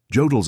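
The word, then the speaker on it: Jodl: Fonfriedberg had been in rhymes with Yodel had witnessed the signing. His transmission was brief. received. Understood. Orders relayed to all North Sea flatillas. Request clarification. Status of personnel evacuation from Corland. Jodel replied immediately.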